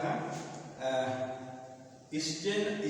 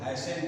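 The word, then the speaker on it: hasten: ये फाइनल हम देखेंगे ट का ट का उच्चारण जो है ऐसे जगह होता है स्न स्टेल अगर इस तरह कनेशन स्टेन स्टे वाले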